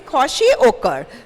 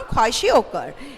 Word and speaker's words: kwashiorkor: Okay, or you can say kwashiorkor. So the second disease, the name of the second disease is kwashiorkor. So you can pronounce it kwashiorkor.